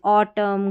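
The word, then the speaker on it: autumn: Rule number 10 है silent N इन MN, यानी शब्द के अंत में MN रहता है ना, तो N का उच्चारण नहीं होता। तो ये भी कुछ स्पेलिंग्स आती रहती है, जैसे MN आखिर में रहेगा तो इसमें N का उच्चारण नहीं होगा, जैसे ऑटम, कॉलम, सोलम, डैम, इस तरीके से MN का कॉम्बिनेशन आखिर में ही आता है और N साइलेंट होता है।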